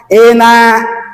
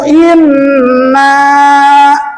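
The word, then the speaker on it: إِنَّ: musyadah dibentak in digitukan membacanya jangan ina ina salah ke mana gunanya kalau mau misalkan membaca gini faqalu ina ina musadahnya ke Mana? Faqualu inna.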